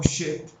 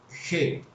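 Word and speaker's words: חית: la vista la letra aquí se pronuncia como shet y het o shet viene la se escribe así chet o het según la procedencia del judío que esté nombrando la palabra o sea si es askenazi o si es sefardí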